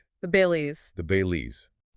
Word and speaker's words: Balis: The Bailey's. the Bailey's or uh the text says it's sometimes pronounced the Bales depending on the regional dialect, right?